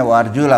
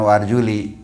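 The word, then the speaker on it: وأرجلَكم: Ini warjula dibacanya warjula bukan warjuli.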